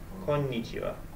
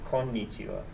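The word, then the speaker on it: こんにちは: almost the same but it's actually Khan konichiwa konnichiwa yeah instead of konichiwa it's konnichiwa it's a pretty subtle difference it's because it's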